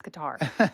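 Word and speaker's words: Qatar: this totally sorry um John Bolton used to say cutter and so I was like oh that's how you say it because he knows everything but everyone's like no it's qar so they get the World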